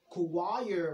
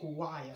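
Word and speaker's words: Kuwaya: be spelled like that it's not kuwair we don't say kuwair we say kuwaiya so it should just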